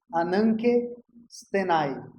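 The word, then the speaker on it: ἀνάγκη στῆναι: E a outra é um termo grego que se pronuncia da seguinte maneira: ananke stenai. E se escreve assim mesmo, com K. Ananke, com N, stenai.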